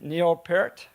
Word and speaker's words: Neil Peart: Am I pronouncing it right? Neil Peart?